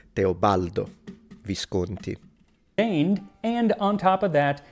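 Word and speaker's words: Teobaldo Visconti: His name was Teobaldo Viscanti. He wasn't even or Teobalo. That's the first thing he missed messed the pronunciation but I probably missed my pronunciation in English 15 times during this live stream. So not a big deal but it is teobaldo visied.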